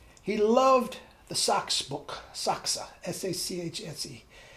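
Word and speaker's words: Sachse: loved the socks book saksa s-a-c-h-n-c he would pronounce it saksa i guess in an italian that's you pronounce the e anyway and he would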